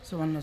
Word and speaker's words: সুবহানাল্লাহ: সুবহানাল্লাহ, পড়েন সুবহানাল্লাহ সুবহানাল্লাহ, আলহামদুলিল্লাহ আলহামদুলিল্লাহ আলহামদুলিল্লাহ, আল্লাহু আকবার আল্লাহু আকবার আল্লাহু আকবার।